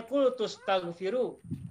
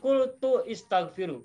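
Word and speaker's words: قلت استغفروا: Sehingga bacanya kultus taghfiru, bukan kultu istaghfiru, bukan.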